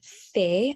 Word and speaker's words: fait: Il fait, okay, il, we do pronounce the L. Fait, we don't pronounce the T.